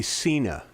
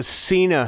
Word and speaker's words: Sena: No, that is a Cena helmet.